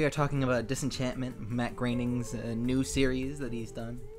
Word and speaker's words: Groening: Anyway, yeah, we are talking about Disenchantment, Matt Groening's new series that he's done since he's done, Simpsons, Futurama. Matt Groening.